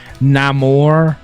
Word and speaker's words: Namor: Is that how they say it in the movie? Namor? Yes, and he is from.